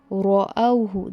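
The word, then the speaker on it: رَأَوْهُ: The second word, ra is your point of focus. We have learnt in the pronunciation class that when you are reciting this letter, whenever it is having fatah or dhamma, that is zabar or pesh with it, we need to recite it heavy.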